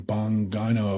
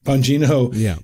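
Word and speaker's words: Bongino: But we just had reports, you know, on Friday that and I'm going to mispronounce his name, Dan Bangano. Bangino. Bangino may be quitting the FBI, right?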